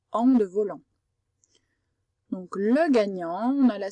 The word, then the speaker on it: gagnant: Donc le gagnant, on a la syllabe ga.